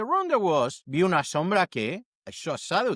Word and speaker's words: sombra: Sombra. The O is pronounced like O, and the B between vowels softened to almost a B sound.